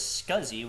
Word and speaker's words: SCSI: So ls ssi pronounced as scuzzi which stands for small computer system interface.